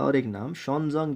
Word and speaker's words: Xuanzang: और इसी तरह से ह्यून का और एक नाम शॉनजोंग भी है, इसे इस तरह से भी प्रोनाउंस किया जाता है, शॉनजोंग भी लिखा जाता है और ह्यून भी, और इसको ह्यून भी लिखा जाता है।